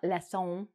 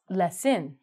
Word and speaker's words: lesson: So you're going to take a cooking, not lesson, you're going to take a cooking lesson.